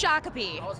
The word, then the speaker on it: Shakopee: Do you know how to pronounce this town? This is a town in Minnesota. Just take a stab. Shakopee. It's Shakopee.